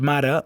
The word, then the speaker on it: mare: Al mot mare, l'accent tònic és a la primera síl·laba, ma. La E final és en posició àtona i, per tant, se pronuncia e.